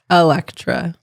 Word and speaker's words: Alectra: do you pronounce it Electra Electra yes how do you pronounce it if it's e Electra Electra Electra so Electra yeah I like that M